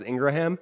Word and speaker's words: Ingraham: the way we know her last name is actually pronounced Ingraham how we had her